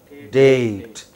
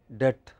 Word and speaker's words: date: Date. Okay. What is the spelling of the word date? D A T E. But if you pronounce it quickly, it sounds like debt. Then your listener is confused.